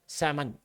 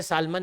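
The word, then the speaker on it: salmon: कि दैट यहां example सेमन बोलते सालमन है लोग एल साइलेंट है हां ठीक है जाने दो सालम नहीं बोलो हां ठीक है एल साइलेंट होता है रीप्रोड्यूस वंस एनसीआरटी से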